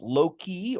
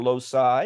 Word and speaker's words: loci: problem is the drawing plural of locus is it's either pronounced Loki or loci either one tomorrow we'll do Loki